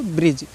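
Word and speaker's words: bridge: ई आया है तो ज हो जाएगा तो ब्रिज इसको क्या पढ़ना है ब्रिज पढ़ना है डी से कोई मतलब नहीं डी का प्रोनाउंस नहीं करना है आपको ऐसे ही ई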